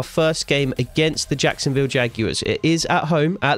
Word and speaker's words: Jaguars: of crazy pronunciations of Jaguars Jaguars Jaguars even Jaguars is how it's pronounced just in case you didn't know Blake